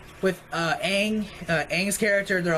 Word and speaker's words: Aang: It's just that my complaints are like with Aang's character. They're like, oh, like they pronounced it Ong. That annoyed me because you have a source material of the cartoon where they say Aang.